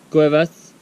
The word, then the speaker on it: Cuevas: How do you pronounce it? Caves? Cuevas.